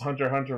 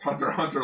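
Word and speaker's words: Hunter × Hunter: It's Hunter Hunter logic. Yeah, it's Hunter Hunter logic. You don't pronounce the X.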